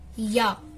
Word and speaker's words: ja: Now yes, it's not pronounced as ja, ya, yes, ya, no, nine.